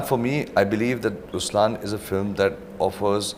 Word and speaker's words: Ruslaan: so even in raslan when you say raslan also means the lion it's the attitude of am but the right pronunciation is rlan okay there is so